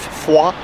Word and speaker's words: Foy: The tour has now come to the town of Foy, or Foy as the Americans would pronounce it back in the war.